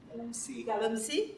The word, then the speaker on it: galamsey: Darryl's current research focuses on Ghana's illegal gold mining crisis, locally known as, now, am I pronouncing this correctly? Galamsey?